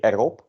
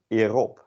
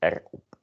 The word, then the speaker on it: erop: with the pronunciation, because this you say erop, but following the common pronunciation rules, it's a vowel, consonant vowel. You would maybe say, oh, this is erop, but it is not, alas. It's just erop.